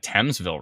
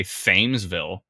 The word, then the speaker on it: Thamesville: didn't pronounce things wrong at least I got thamesville right this time I didn't say famesville even though I read it and there's a th and a m and e and s saying but